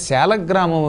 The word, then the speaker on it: సాలగ్రామము: ఇవాళ సాలగ్రామం అని పిలవబడుతున్నాయి ఈ సాలగ్రామము అని పలకాలి కానీ సాలిగ్రామము అని పలకూడదు అది బండబోతు దాని వల్ల ఏమి ఉపయోగం లేదు కాబట్టి సాలగ్రామము లేక శాల గ్రామము రెండూ కూడా సందేహం లేకుండా మంచి ఉచ్చారణలే సాధు శబ్దములే అపసాధు శబ్దములు కాదు అసాధు శబ్దములు కావు కాబట్టి శాల శాల కూడా